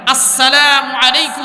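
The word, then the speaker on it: السلام عليكم: আসসালামু, আস, এই যে হামজা উচ্চারণ সঠিক করবেন, আস সালামু আলাইকুম ওয়া রাহমাতুল্লাহ।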